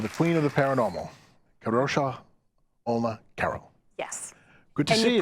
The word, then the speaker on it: Kadrolsha Ona Carole: our special guest the queen of the Paranormal kadosha Olma Carol so here I am with the queen of the Paranormal kosha Ola Carol yes good to see you pronounced it right too that's good of practice